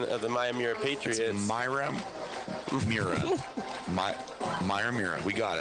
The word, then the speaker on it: Miyamura: A shout out to his wife earlier for helping us confirm our pronunciation of the Miyamura Patriots.